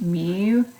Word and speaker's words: mu: this symbol so this is the me it's pronounced Mew kind of looks like a cursive U but